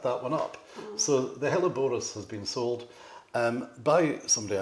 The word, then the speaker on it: Helleborus: Also, I just wanted to say, this painting up here, I'm no Alan Titmarsh, but I think it's called the Helleborus. Yes. Is that the right pronunciation?